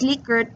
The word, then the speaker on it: Likert: scale in for those of you wondering it's pronounced Likert because the proponent proponent of liquids scale is